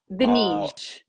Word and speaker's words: Dinis: Dinis. Dinis, with a, like a soft G or a J.